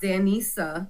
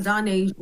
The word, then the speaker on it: Danisa: And then my little big sis Disa also known as who where Shade and it's pronounced Danisa not Dasia not Janessa not Vanessa you already started